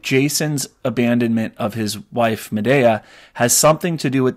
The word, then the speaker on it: Medea: about the midea yeah should I say Medea or Medea well either like Medea is more like the Greek pronunciation but everybody says Medea so okay I guess I way I said when I say I always say Medea so do you think